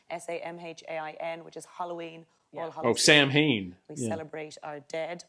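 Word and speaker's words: Samhain: which is Halloween oh Sam Heen we celebrate our dead how do you say because it looks like Sam Haines yeah salmon just haven't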